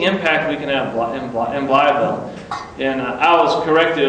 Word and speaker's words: Blytheville: I said, of course, I was up there saying Blytheville. And they said, no. When you're from Blytheville, you got to say Blytheville. So now I try to pronounce it correctly, Blytheville.